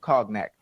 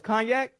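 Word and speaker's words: cognac: first sip of of COG neck laier what's it called oh it's knac wait for spell CG n though oh the G silent why you got me saying it wrong all this time man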